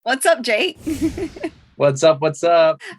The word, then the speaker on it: JVKE: So I'm Jake, but it's spelled JVKE. But the thought is like, you flip the A upside down and it's JVKE.